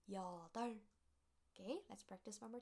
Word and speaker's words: 여덟: sound, B sound together, you don't have to read B sound, only L sound. That's why it is pronounced as 덜, 여덟. Okay, let's practice one more time. Repeat after me. 여덟.